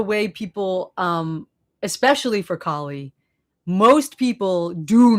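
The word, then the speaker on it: Kali: They call her Callie, which like bothers me. It's like a small mispronounce mispronunciation, but like it's Kie, but like they don't even care.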